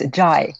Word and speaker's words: Zhai: And is that the correct pronunciation of your last name? It's Zhai. Zhai, that's why I asked.